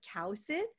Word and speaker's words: Kaewsith: my last name initially so it's actually cow Sid which is totally okay